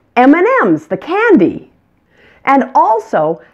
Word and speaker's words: M&M's: letter in the combination M&Ms the last M receives the most emphasis M&Ms you can find out